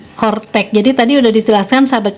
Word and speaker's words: Coretax: jusan itu kortek ya kalau ditulisnya ini coretak ya coretak Jadi dibacanya itu kortteex jadi tadi sudah dijelaskan